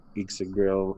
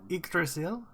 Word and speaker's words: Yggdrasil: serpent and the I've always been terrible with pronunciation. Ixigrill tattooed on his arm. Yggdrasil?